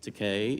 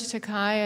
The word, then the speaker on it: Takei: Here's George Takei, it rhymes with decay, a book in which um he talks about, you know, one young man lusting after another.